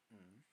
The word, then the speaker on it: ん: In some words, it sounds like a hard N, but in other times, it can sound like a M.